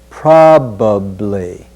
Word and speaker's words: probably: Probably. In our informal speech, we may pronounce that another way, but in our professional dialect, we want to say probably.